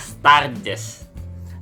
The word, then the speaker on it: Sturges: Tulisannya Sturges, tapi dibacanya Sturges.